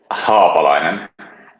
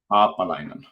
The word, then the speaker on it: Haapalainen: Haapalainen. Haapalainen. All right. Yeah, so with that's good. A longer A, so to say.